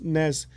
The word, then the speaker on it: NES: NES, it's NES. Yeah, which is pronounced NES.